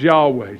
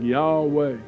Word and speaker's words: Yahweh: When you say it correctly, your jaw literally does not move and your lips do not move.